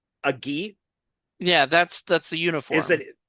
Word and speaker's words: gi: called he has no idea a g a ghee yeah that's that's the uniform is it right but is that how you say it g g g g oh ghee okay so he has no idea how to